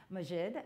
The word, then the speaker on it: Maajid: It is Maajid.